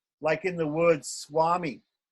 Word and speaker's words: Swami: But when it's mixed with another consonant, we pronounce it like a W. Swami.